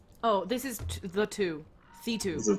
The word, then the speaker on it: The 2: Sorry, I think it's pronounced C2. It's spelled the T-O-O, so depending on how you prefer to pronounce that, that could be the, that could be the. I think the 2 is how I've heard some other folks say it.